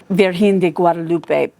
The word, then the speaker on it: Virgen de Guadalupe: Virgen de Guadalupe probably is closer to the right pronunciation.